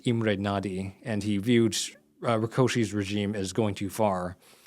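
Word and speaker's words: Rákosi: And this is important because after a decade of rule by uh by Rkoshi that's actually how his name is pronounced even by the standards of the which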